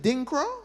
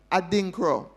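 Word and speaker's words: Adinkra: This this this is like the the Akan is it dingro? Is that how it's pronounced? A dinkro.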